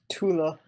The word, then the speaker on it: Thule: Tula. Yeah, Tula. People say Thule, though, you know.